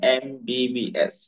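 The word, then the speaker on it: MBBS: আগে এন বসে যেমন এমবিবি এস এখানে এম শব্দটা যখন আমরা বাংলায় লিখি তখন এ শব্দের প্রথম অক্ষর এ আসে এটাতো ভাওয়েল এজন এম এর আগে এন বস তারপরে এলবি এলটা যখন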